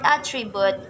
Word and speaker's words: attribute: suspect suspect the okay the word attribute is has three syllables it knows the stress is at the beginning while in first the stress in the middle i think that is